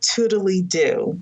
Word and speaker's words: Toodledo: So I use a task manager called Toodly-Doo. Nice. So I'll spell that for everybody.